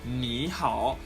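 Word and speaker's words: 你好: would pronounce them as Niihau and the first second the first third tone will sound like a second tone quite you see the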